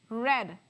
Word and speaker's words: read: but my pronunciation of my past tense and my past participle actually sounds more like red like the color red right our Lord this